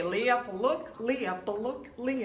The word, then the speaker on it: Leah Pawluk: to pronounce this course Leah Leah yes okay Leah PUK okay lay up a look lay up a look